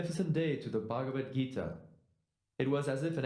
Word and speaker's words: Bhagavad Gita: It's Bhagavad Gita. Why don't you try pronouncing the name again? Bhagavad Gita.